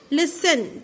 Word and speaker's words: listen: Listen, T is silent.